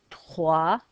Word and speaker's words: trois: Trois, silent s.